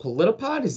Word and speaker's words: Politipod: You produce a show called Politipod.